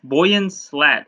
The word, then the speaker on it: Boyan Slat: makes things okay alright so the inventor Toyland Boyan slat is how you say his name so the